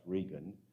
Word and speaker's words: Reagan: was a man named regan spelt like reagan but pronounced regan from texas and he